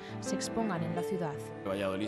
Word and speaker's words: Valladolid: expongan en la ciudad valladoli se escribe con D en realidad y que esa d